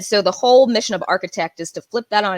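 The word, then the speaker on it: Arkatecht: ceo of a company called architect and i always have to give the disclaimer no we are not an architecture firm not even in the in the tech sense of the word um we spell it a-r-k-a-t-e-c-h-t and we create web-based professional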